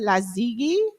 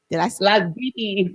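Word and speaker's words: Lasgidi: How do you say it? La Ziggy? Las Giddy. I said it right?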